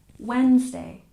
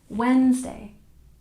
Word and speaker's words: Wednesday: least number 20 Wednesday the D is silent and we stress the first syllable Wednesday Wednesday one more time Wednesday very good and don't